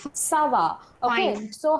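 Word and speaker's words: ça va: Sava. Sava. Okay. Fine. So how you know it is Sava?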